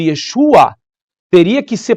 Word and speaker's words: Yeshua: fonte Por que não chamá-lo de yeshua se o seu nome é Yeshua né veio pro português como Jesus Ok mas por que não falar Yeshua vamos voltar pra fonte e aproveitar que o português tem a condição de pronunciar o nome o nome corretamente agora eu quero mostrar